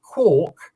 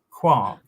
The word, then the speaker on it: quark: And for those people who insist on pronouncing it quark, you're wrong because it rhymes with Mark. So therefore, it has to be quark.